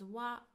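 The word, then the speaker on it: は: It is pronounced as wa but we write it as hiragana ha ha.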